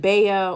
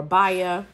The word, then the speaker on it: Baya: Now, you may pronounce it Baya or Baya.